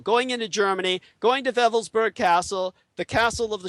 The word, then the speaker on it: Wewelsburg: This is why Colonel Michael Aquino, during the 1980s, traveled to the Schutzstaffel Castle of Wewelsburg, spelled with W's, it's pronounced as a V in the Germanic, W-E-L-S-B-E-R-G.